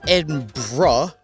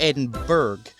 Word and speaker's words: Edinburgh: It's Edinburgh, not Edinburgh.